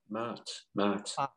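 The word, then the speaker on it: Ma'at: I don't know how it pronounced. Mart.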